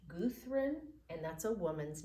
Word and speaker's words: Gudrun: Gudrun, it looks like Gundren, but it's pronounced Gudrun, and that's a woman's name.